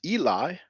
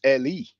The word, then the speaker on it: Eli: the e as well there's a name that many of us pronounce Eli but in Hebrew we'll be pronounced Ali now L is a